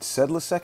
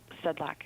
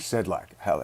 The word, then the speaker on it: Sedlacek: this detective I'm sorry is it sedc how do I pronounce your last name it's Sedlak actually sedlack good morning detective doesn't